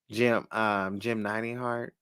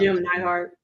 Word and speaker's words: Jim Neidhart: My goodness, like Brett, Jim Heart. Did I say it right? I always butcher Yeah, sometimes. Jim Neidhart.